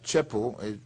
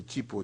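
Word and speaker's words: Cheapo: C-H-E-A, and Chepo, well, some people say Chipo, Chepo, I think it's C-H-E-A-P-O, Che Chipo.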